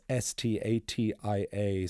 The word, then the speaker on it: Statia: It's Statia, so like Stacia.